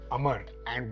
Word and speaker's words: Amara: Now if you look at this, this name is derived from the Sanskrit word of Amar and what the brand is trying to create is immortality. But it's your pronunciation which means it comes with a double A with a stress on Amara.